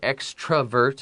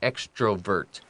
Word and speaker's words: extrovert: So you're going to hear extravert and extrovert, and they're both okay.